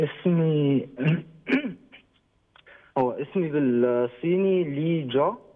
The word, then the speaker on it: لي جا: الهداوه والجمال ده قو لي بقى الاول انا بنطق الاسم صح ازاي ا اسمي اسمي بالصيني لي جا لي جا بالظبط اوكي اوكي اوكي وحكيم حكيم ده اسم